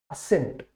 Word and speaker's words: assent: असेंट, असेंट जो word है, और एसेंट, देखो प्रोनाउंसिएशन ऑलमोस्ट सेम है। असेंट और एसेंट दोनों प्रोनाउंसिएशन सेम है, पर इस ASSENT का मतलब होता है स्वीकृति, राइट।